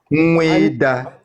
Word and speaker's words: Nweda: Yeah, brother, I know the real pronunciation. Nweda, Nweda, not Wida. Wida don't mean anything in Igbo. It is Nweda.